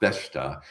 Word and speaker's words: Besta: My name is Beast in English, and that word in Portuguese is Besta, Besta, pronounced Besta.